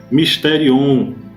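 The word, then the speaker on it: μυστήριον: O comentarista diz que ela é uma palavra grega, e no grego ela se pronuncia mysterion no grego, e essa palavra mistério tem o significado de segredo, doutrina secreta, certo?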